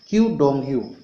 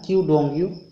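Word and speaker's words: Qu Dongyu: क्यू डोंगयू। कौन है? क्यू डोंगयू। यहाँ पर थोड़ा सा नाम जरूर कठिन होगा, क्यू डोंगयू।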